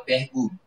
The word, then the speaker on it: Pierre Boulle: Inclusive, o nome do autor é o Pierre Boulle. A pronúncia é essa, caso você tenha que perguntar em algum momento.